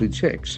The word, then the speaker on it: reject: It rejects. R E J E C T. Here, we have two syllables and accent falls on the second syllable.